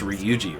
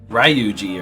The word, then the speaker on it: Ryuji: spoke of is true at least they pronounce ryuji right not like ruji or something o steal Mam's heart